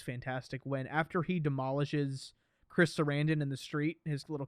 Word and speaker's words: Chris Sarandon: And like the shot, it's obviously mostly CG, but it looks fantastic when after he demolishes Chris Sarandon in the street, his little cameo, and he's